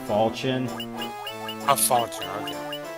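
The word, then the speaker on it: Falchion: How do you say is it fion? What is it? Uh it I mostly go by the Fire Emblem pronunciation which is Falchin.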